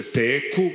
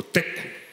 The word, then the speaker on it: teku: Moraš da znaš, akcentovanje nije suze teku, nego teku. što je jako važno.